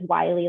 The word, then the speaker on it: Wiley: So when we were having the initial conversation before the webinar started, and I had mentioned that my last name is Wiley, like the coyote, which was the way to pronounce it.